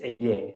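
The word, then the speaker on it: εἰρήνη: 70 o la Septuashinta, donde la palabra eh shalom se eh se lee e ire. Paz es eirene. Sí. Así se lee, se escribe en griego, se recibe la palabra todas las veces.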